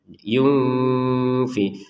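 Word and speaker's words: يُنْفِقُونَ: Kalau nun sukun bertemu fa ini kita bacanya dengan samar. Yunfi. Kalau ini dibaca dengan jelas salah. Yunfikun. Nah, salah. Jadi kita baca dengan samar.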